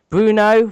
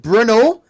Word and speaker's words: Brno: Brno for the 14th of August. I know I've pronounced that wrong. So it's actually pronounced Bruno.